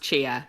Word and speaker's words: Chia: for the record, my name's pronounced Chia. It doesn't look like it.